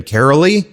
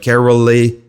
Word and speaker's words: Caroly: to say her name carolly Carol it's like it's like they tried to say Carolyn but they forgot the n on her birth certificate so it's like carolly carolly Larson Her IMDb